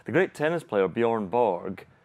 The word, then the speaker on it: Borg: So the great tennis player Björn Borg. In Swedish, how's his surname pronounced then? Björn Borg. Borg. Borg.